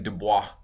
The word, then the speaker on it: Du Bois: Keep in mind, the French last name would have been Dubois, but he pronounced it Du Bois, and that was that's the proper pronunciation for him. Okay, is Du Bois.